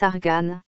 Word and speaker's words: argane: nom de l'arbre l'arganier en arabe ce nom se prononce argane avant les essais nucléaires